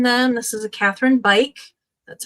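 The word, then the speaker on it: Beich: And it even tells you on the lid, say bike, because that's how you pronounce the last name.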